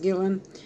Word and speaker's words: Guillen: female soldier Vanessa Gillen I believe her last name is pronounced Gillen that came up missing